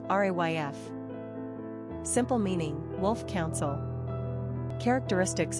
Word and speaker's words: Ralph: Pronunciation, Ralph, RAYF.